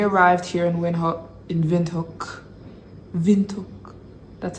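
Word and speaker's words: Windhoek: and when we arrived here in wi in vinok vent that's how you say it Namibia it was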